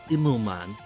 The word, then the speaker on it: Immelmann: Good old how to pronounce, my good old favorite. Immelmann.